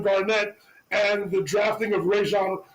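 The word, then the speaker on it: Rajon: acquisition of Kevin Garnett and the drafting of Rajan Rajan Rondo as he wants to everybody to know is the true pronunciation of his name to come together and to win that championship.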